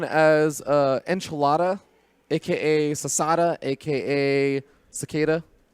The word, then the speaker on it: Cicada: Cicada. It's like a cicada. What's wrong with It's spelled Cicada. That's a pretty confusing pronunciation.